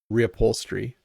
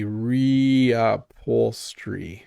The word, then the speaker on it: reupholstery: Rupholstery. So, the slow version would be reappol. I'm really mushing stuff together there, but that is how you would say it.